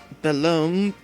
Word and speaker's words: Belome: On occasion, you may see someone pronounce it Belome, but the proper way is Belome. Belam? Take care to pronounce that O correctly.